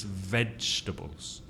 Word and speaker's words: vegetables: laughs and finally vegetables how many syllables three right three vegetables the first syllable is stressed vegetables meat and vegetables of course the mistake many Spanish speakers made is to make this to put four syllables in that word vegetables no it's vegetables vegetables so one more time